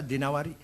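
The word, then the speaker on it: الدينوري: Al-Imam Asy'ari bin Qutaibah Ad-Dinawari. Jangan Ad-Dainuri bacanya, Dinawari. Jangan Ad-Dainuri, enggak ada kota Dainur, ada Dinawar.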